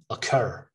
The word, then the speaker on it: occur: cur occur all right occur so the stress is on the second syllable occur police not paul